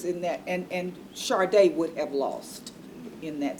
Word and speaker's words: Sade: I said, "Your Honor, her name is pronounced" The little girl's name was Sade. Spelled like S A D E. And the judge kept saying Sadie.